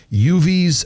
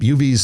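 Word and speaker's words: Yuvi's: Uvi's Bake Shop. Uvi's is spelled Y-U-V-I''S.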